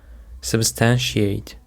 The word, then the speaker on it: substantiate: Now let's move on to another word which is substantiate. Substantiate. The stress is on the second syllable.